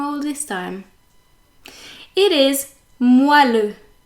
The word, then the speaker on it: moelleux: But everyone pronounces it moelleux, probably because of the way it is spelled, because if you read it as it's spelled, you would actually read moelleux. But no, it's meant to be moelleux.